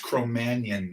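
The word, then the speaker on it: Cro-Magnon: Before that, we were Cro-Magn or if you're French, you pronounce it correctly, which none of us do. And that's Cromanion man.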